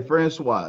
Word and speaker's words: Franqua: times is it Francois Francois that's it okay Francois now the reason I brought that up is